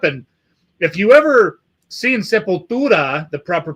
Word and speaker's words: Sepultura: And if you ever seen Sepultura, the proper pronunciation, by the way, you see them back in the day, in their prime, when they would play that song.